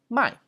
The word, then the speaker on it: 卖: And to sell in Chinese is 卖, so it's fourth tone, 第四声.